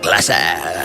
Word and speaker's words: Glasse: Glasse, the E is silent, are both regulars at the top clubs in Gotham.